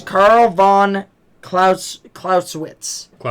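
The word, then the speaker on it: Clausewitz: So I cannot pronounce his name. So it's Carl von Claus Clauswitz. Clauswitz.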